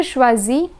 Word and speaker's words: choisis: A single S is pronounced as Z, while double S is pronounced as S. So here's the conjugation. Je choisis, tu choisis, il choisit,